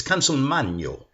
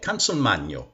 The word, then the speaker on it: Consolmagno: That's because they haven't lived in Italy. It's Consolmagno. Okay? Consolmagno.